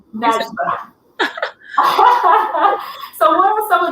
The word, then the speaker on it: Nashba: And I hope that, pronounce it for me again. I want to make sure. It's Nashba. Nashba.